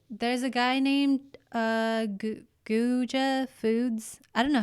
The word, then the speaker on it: Guga: There's a guy named Guja Foods. I don't know how you say it. It's G-U. Guja. It's spelled Guga Foods, and all he does is like cook steaks, and it's really cool.